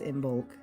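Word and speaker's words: Imbolc: Um, anyways, so today is typically celebrated as Imbulk, which is a very Americanized pronunciation of it. Um, and I apologize to anybody who can actually say it.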